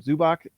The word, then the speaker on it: Zubac: i always forget how to say his name zubach he's that center for the cleveland or for